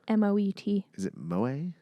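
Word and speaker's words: Moët: in the actual spelling there's the little like two dots above the e making that wet sound but that's not featured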